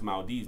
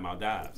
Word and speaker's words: Maldives: that's why you know how to pronounce maldives not my dives you feel me right